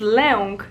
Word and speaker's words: lęk: There's lek, which means medicine, and there's lęk, that means fear.